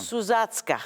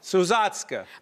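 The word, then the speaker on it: Sousatzka: Suzatska. Suzatska.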